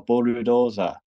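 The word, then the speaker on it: ブルドーザー: someone asked me like how do you say bulldozer in Japanese and I just went oh bulud Doza and the Japanese person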